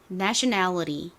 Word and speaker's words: nationality: 소리가 애 소리로 바뀌어요 그래서 네이가 아니라 니은에다가 a의 소리가 소리가 나니까 네가 됩니다 그래서 읽어보면 어떻게 되죠 내셔널리티가 되죠 미국식으로는 nationality 일단 발음은 둘째치고 읽고